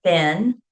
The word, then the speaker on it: been: So BEEN, ben, or ben, like pen, pen, right?